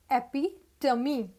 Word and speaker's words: epitome: bowl next we have e p i t o m e at first look you will think this is epitome no this is epi tummy epidemic epitome refers to